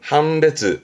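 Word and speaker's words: 判別: 발음은 한단, 한단. 그렇죠. 판별, 판별, 한베즈, 한베즈.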